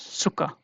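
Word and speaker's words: Zucker: And another example that you will use every day is like suga in English, but here it is pronounced as suka, suka.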